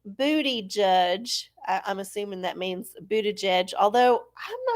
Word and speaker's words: Buttigieg: I'm guessing if you were speaking Maltese, which apparently he's from Malta, which is a teeny tiny little country in the Mediterranean that's got their own language, then yeah, he might be pronouncing it different. So I think Buttigieg is Anglicization.